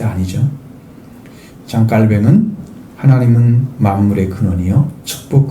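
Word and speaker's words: Calvin: 프랑스 사람인데 장 깔뱅이라고 읽어야 맞습니다. 근데 영어식으로 발음을 하니까 장 칼빈이 된 거죠. 절대 아니죠. 장 깔뱅은 하나님은 만물의 근원이요 축복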